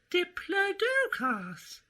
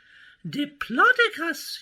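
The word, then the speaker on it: Diplodocus: the incorrect version well I always thought it spoke as simply diplas but when I went to ask it pounced and said my name you've mispronounced I see version number two oh uh well I'm big and plot about you you see so a plotting name is best for me de plotus you must all say and then it plotted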